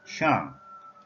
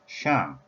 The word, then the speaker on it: 上: The Chinese pronunciation is shàng, shàng, shàng, having tone number 4 value.